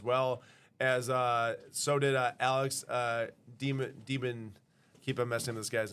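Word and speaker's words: de Minaur: Emma Raducanu signed in there as well, as so did Alex Demon. Keep on messing this guy's name. It's not pronounced like Demon Newer.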